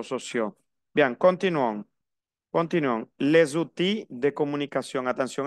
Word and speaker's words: outils: Ok, estaba pronunciando la L. Les outils.